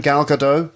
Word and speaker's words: Gal Gadot: Gal Gadot?